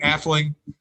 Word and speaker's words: Atheling: means prince or no middle nobility am i pronouncing it correctly uh whoops hold on a sec yeah it's um yeah athlete etheling yeah okay but that's fine the jets it's